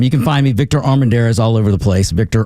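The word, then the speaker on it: Armendariz: Um, you can find me Victor Armanderees all over the place. Victor Armanderez, just spell it correct.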